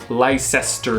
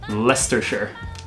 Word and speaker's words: Leicestershire: you saying why stir so if I was saying this before making that previous video I would say lie sister sure and I would say Lystra sure but Leicestershire Leicestershire yes Nesta Leicestershire Leicestershire Lincolnshire Lincolnshire every